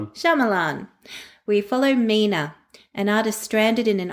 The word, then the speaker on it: Shyamalan: by Ishana Knight Sham Sham I can never pronounce it. Shyamalan Shyamalan.